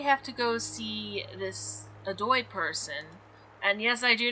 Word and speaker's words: Adoy: So now we have to go see this Adoy person. And yes, I do know for a fact that that's how it's pronounced, because I've heard it a lot.